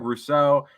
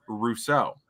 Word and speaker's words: Rousseau: I have always pronounced his name, and I think everyone's always pronounced his name, Greg Rousseau. But I heard a commercial that he was on during the broadcast, and also one of the announcers pronounced it as Russo. They put the emphasis on the Ru as opposed to the so.